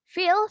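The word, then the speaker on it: fil: Phil, selanjutnya Phil artinya gajah. Phil. Kayak bahasa Arab ya, sama ya. Phil. Sorry. Oke, kalau misalnya ada yang ketinggalan, boleh bilang di kolom chat ya. Phil artinya gajah.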